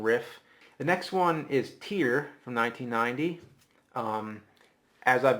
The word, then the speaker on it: Tyr: the next one is tier from 1990 um as I've been told it rhymes with beer okay CU I had no clue how to say it I always used to think it was tyr he just you know